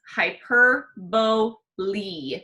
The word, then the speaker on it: hyperbole: term is hyperbole and I know it looks like hyperbole it's not it's hyper beau Lee make sure you say that EEE sound at the end hyperbole okay so hyperbole